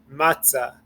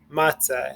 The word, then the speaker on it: matzah: word is matzah so you're going to emphasize the second syllable this is the break the first syllable is ma the second syllable it's ah because there's no there's no nikud here if there was a new code here then it would be three soul but it's a two-syllable word so matzah matzah and